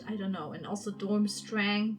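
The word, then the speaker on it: Durmstrang: don't know and also dormstrang dormstrong how we germans would pronounce it is also depicted as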